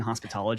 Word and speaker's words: Hospitalogy: And I'd like to say I do appreciate you annunciating the A in hospital. I call it like it it's either or, but a lot of people will misspell it um with an O.